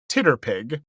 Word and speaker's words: TTRPG: I have for many years pronounced it Titterpig because it's easier.